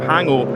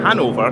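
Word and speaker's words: Hannover: pronounced that wrong team from hangover hanover not hangover hanover they maybe have a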